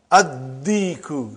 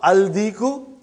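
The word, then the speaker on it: الديك: Addiku, not aldiku.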